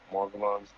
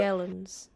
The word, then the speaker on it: Morgellons: What are Morgellons? How do you pronounce that? Morgellons.